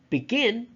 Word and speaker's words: begin: first syllable is underlined begin the second syllable is underlined to show to students